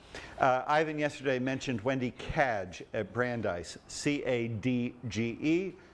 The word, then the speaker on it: Cadge: ivan yesterday mentioned wendy cadge at brandeis c-a-d-g-e spelled like badge pronounced like badge and sociologist and she